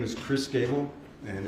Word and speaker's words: Gable: last name please yes my name is Chris Gable and it's spelled c h r i s g a